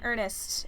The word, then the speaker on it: Ernest: Where did you get the name Ernest? Okay, it's spelled E-R-N-E-S-T, by the way. It's not spelled like the word Ernest. The name is spelled slightly differently.